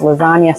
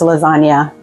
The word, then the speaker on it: lasagne: This is lasagna with an E. It's still pronounced the same because in Italy the E sounds like A, but it means multiple lasagna noodles.